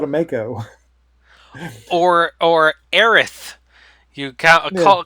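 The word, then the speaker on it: Aerith: oh I was called a Mako or or Erath you called her Ares forever there was a localization difference sure my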